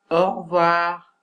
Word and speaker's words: au revoir: Et dans la quatrième erreur, on a la graphie AU qui correspond au phonème O. Par exemple, au revoir, au revoir.